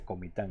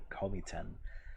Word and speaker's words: Comitán: Y él dijo, I come from Comitán. Y todo el mundo se empezó a reír de él. No, aquí se dice Comitán. No quiera sonar muy gringo. Aquí se dice Comitán, no Comitán. Pero no, está bien.